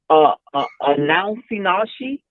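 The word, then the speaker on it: anosognosia: in mental health, and it's called announcinashi. And what that is a lack of insight. You spell it ANOSOGNIA. And the way you pronounce it is kind of crazy, but what it is a lack of insight.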